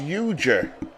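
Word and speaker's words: Ujdur: the uh picture name it's pronounced euger what did I call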